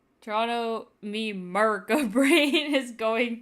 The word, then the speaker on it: Toronto: The last T is silent. You don't have to say all the T's, and you don't have to say all the O's. It's just Toronto. Toronto, me Merca brain is